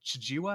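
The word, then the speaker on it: Chijiiwa: And then we're watching it through the story of this Chijiwa, I believe is how you pronounce his name. Chijiwa, yeah.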